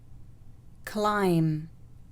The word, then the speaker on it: climb: القاعدة الثانية: إذا جاء حرف الM يليه حرف الB في نهاية الكلمة فإن حرف الB لا يلفظ. حرف الB لا يلفظ. So for example, comb, comb, lamb, lamb, tomb, tomb, climb, climb, limb, limb.